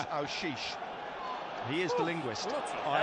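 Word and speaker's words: Aouchiche: We're having a debate downstairs about how it's pronounced. Ashish. Colin White tells me it's Aushish.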